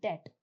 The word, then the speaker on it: debt: Now, you might have heard the word debt. Here, the B is silent.